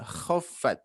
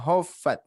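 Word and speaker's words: خَفَّتْ: Nah, khaffat, tidak hoffat ya, tinggal diberikan sifat dengkuran saja.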